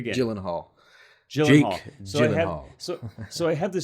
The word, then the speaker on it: Gyllenhaal: And and then of course with Jake Jake uh whose last name, Come on, pronounce his last name for me. Gyllenhaal. Say it. Say it again. Gyllenhaal.